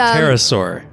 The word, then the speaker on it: pterosaur: How do you even spell it? It's a pterosaur, I think.